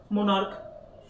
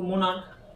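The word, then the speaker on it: monarch: তোমাকে কি বলতো এস বসাতে হবে যেমন ধরো মনার্ক দেখো মোনার্ক মোনার্ক মানে কি বলতো মোনাক মানে হচ্ছে রাজা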